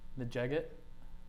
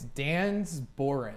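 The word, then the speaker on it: Dengar: Najeget? No. Dang. You have an answer? I do not. All right. It's wrong. It's Dan's Boren.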